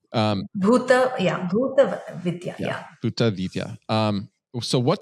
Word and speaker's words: Bhuta Vidya: Well, I think it's called Buddha Vidya. Am I pronouncing that correctly? Yeah. Bhuta Vidya.